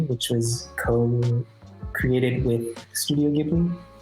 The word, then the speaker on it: Ghibli: Am I pronouncing it right? Yeah. Studio Ghibli.